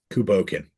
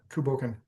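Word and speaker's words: Cù Bòcan: ask for confirmation because I feel like I mispronounced it or I have historically. I I believe it's Kuboken. Kuboken. Okay. Yeah, Kuboken.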